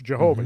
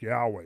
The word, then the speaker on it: Yahweh: that we essentially trans that we would uh say in in American or English Jehovah right that's Jehovah Yahweh you know in the Hebrew it's more like Yahweh it's spelled uh yud